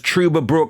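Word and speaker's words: Trüberbrook: Next on the list, and I'm sure it is pronounced as Truberbrook, which is a thrilling mystery sci-fi adventure game.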